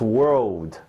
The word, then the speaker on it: world: It's not word, it's world.